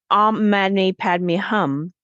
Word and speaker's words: Om Mani Padme Hum: And when they took Om Mani Padme Hum, when you say it correctly, you actually hear the resonance. Om Mani Padme Hum.